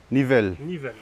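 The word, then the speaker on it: Nivelles: And the other one, Nivelle.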